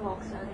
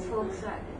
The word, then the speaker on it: Volkswagen: is all different internationally if you go to German the way they pronounce uh V is f that's you know Volkswagen is not volag volag Volkswagen so when you put